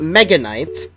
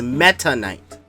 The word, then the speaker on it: Meta Knight: And the character he played was not Mega Knight. It was Meta Knight. Oh, with a T.